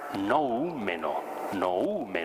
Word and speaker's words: noúmeno: A este conjunto de sensaciones, y que para cada ser humano es un conjunto distinto, Kant le llama noúmeno, acento en la U, un noúmeno.